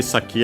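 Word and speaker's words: 先: Uh by the way saki as a reminder should be unacented.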